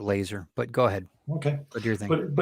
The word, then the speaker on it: Lazar: Well, I would say it's Bob Lazar, and he calls himself Bob Lazar. So and I say Robert Laser, but go ahead.